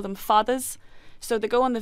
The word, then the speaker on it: fada: And you call them fathers? Fadas. Fadas. F-A-D-A. Yeah. Not fathers, no.